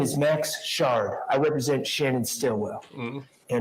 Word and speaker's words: Shard: morning sir good morning my name is Max Shard I represent Shannon Stillwell you know okay his name is sha he really pronounce that out loud because every time the